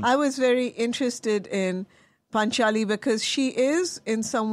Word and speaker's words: Panchaali: Panchaali, soft C. Panchaali.